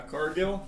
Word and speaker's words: Cargill: Cargill? It's pronounced Cargill. Oh, it's French.